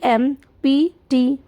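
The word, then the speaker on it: empty: एम्प्टी ई एम पी टी वाई एम्प्टी इसको हम एम्प्टी नहीं प इतना ज्यादा प्रोनाउंस नहीं होता है। हम इसे एम्प्टी बोलते हैं।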